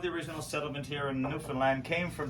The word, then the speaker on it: Newfoundland: Now, a scuff is a dance, and a Newfoundland, a blue star is a beer, and it's pronounced Newfoundland. not Newfoundland or Newfoundland.